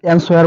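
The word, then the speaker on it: answer: অনুচ্চারিত silent থেকে যায় অ্যানসার তো আমরা অ্যানসার বলতে পারি কিন্তু অ্যানসার বলবো না কেননা ডব্লিউ টা অনুচ্চারিত থাকবে সাইলেন্ট থাকবে অ্যানসার অ্যানসার মানে উত্তর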